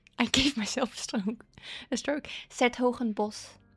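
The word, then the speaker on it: 's-Hertogenbosch: Truth be told, though, with that one, it's written really weirdly, so I guess I can understand why people couldn't, because it has a lot more letters than that you actually hear.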